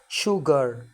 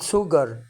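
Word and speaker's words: sugar: باذن الله يبقى هنا الاس يو هتنطق شين زي كلمه شوجر يعني سكر مش هنقول سوجر غلط شوجر شور يعني اكيد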